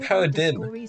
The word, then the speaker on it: paradigm: Said the G is silent. Then why is there a G in there at all? And so that'd be like paradigm.